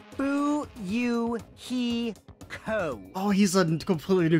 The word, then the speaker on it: Fuyuhiko: last name is my first name is pronounced boo you he co oh he's a completely